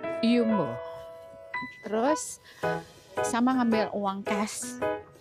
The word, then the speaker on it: Jumbo: kami ingin belanja di yumbo Yuk Ikutin terus oke Guys kita jalan lagi tadi makan di pusigon Nah kita Ceritanya mau belanja di jumbo tapi pronounce-nya yumbo terus sama ngambil uang